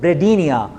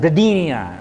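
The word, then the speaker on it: bradypnea: bipia you call it bradia okay p is mojud but p is silent bradia okay binia means slow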